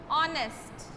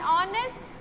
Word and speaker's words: honest: that is H, but the sound is that is coming is not of H but O, because this is silent and this is also silent. So, we say an honest woman, an hour left.